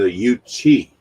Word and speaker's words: Yuchi: The Yuchi. Okay, that's how you pronounce it. See, Yuchi. Yuchi. Well, y'all can't see because, yeah, you don't.